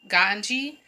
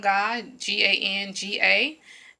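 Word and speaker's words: Ganga: was going to the gunga gunga now a lot of people will pronounce it ganji but that's the wrong way to pronounce it gone gone gone gan GA and that was a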